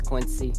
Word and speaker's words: Quincy: is going to be the quincy ceo i think how you pronounce it something like that yeah it's quincy yeah so we'll be